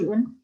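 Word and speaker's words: جزء: Ingat sebelumnya sukun. Juz'un.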